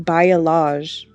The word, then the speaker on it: balayage: Apparently it's pronounced Balayage.